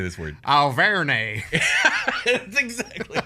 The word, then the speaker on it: Auvergne: Auvergne. That's exactly how you would say it. And It's and Auvergne. and Alvernay is how I'm going to pronounce it.